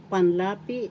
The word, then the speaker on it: panlapi: you um the affix panlapi in tagalog first syllable second syllable la third syllable p this the accent is in the second syllable panlapi panlapi and that's the